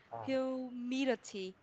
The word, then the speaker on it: humidity: Thực ra mình sẽ có hai cách đọc ạ. Mình sẽ đọc theo anh hoặc là anh Mỹ mình sẽ có là humidity. Tức là đối với cái chữ có âm tờ thì mình sẽ có thể có hai cách đọc là âm đờ hoặc âm tờ.